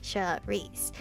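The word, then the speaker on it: Saoirse: me start by saying my name charisse s-a-o-r-i-s-e should reese and i apologize for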